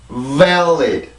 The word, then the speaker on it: valid: 그냥 발리 이게 아니라 vel 앞에 소리가 아주 길게 나와야 돼요. 너무 길게 나와서는 너무 길게 나온다고 정확한 발음은 아니지만 전혀 섞여 나오지 않게 되면 이 발음은 틀리게 돼요.